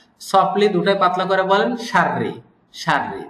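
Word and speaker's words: شَرِّ: কিন্তু আরব শায়েখরা বা আরবরা এটা উচ্চারণের সহজ অর্থে র দুইটা উচ্চারণই পাতলা করেন সাররি করেন নট সাররি এরকম বলেন না উনারা সফটলি দুইটাই পাতলা করে বলেন সাররি সাররি তো আমরা এভাবেই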